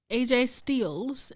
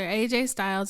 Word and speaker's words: AJ Styles: win um next up we've got finn baloo aj steels and liv morgan okay it's gonna be some mark saying you said the name wrong so i did it on purpose i